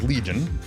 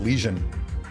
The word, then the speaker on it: Legion: Started playing Star Wars Legion. Can't believe I pronounced that accurately. Usually I pronounce it Legion, like things on your skin.